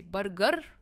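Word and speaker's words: burger: दोस्तों, यह बर्गर नहीं है क्योंकि इसमें आर प्रोनाउंस नहीं होता है। यह है ब और ग। यह टू सिलबल वर्ड है। इट्स ब ग। और ब पर इसका स्ट्रेस है। बर्गर एंड नॉट बर्गर।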